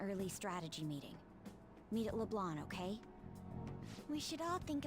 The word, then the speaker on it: Leblanc: You know, I'm sure the name of the restaurant is LeBlanc. I mean, it's French and all, but I hate the fact that they don't pronounce the C.